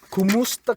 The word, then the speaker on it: Kumusta: Kumusta ka? Kumusta ka? So ka, remember, is you. Kumusta. That's how we say it.